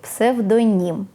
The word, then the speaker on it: псевдонім: Вітаю у промову сьогодні пропоную визначитися з наголосом у слові псевдонім Так саме псевдонім а не псевдонім якщо боїтеся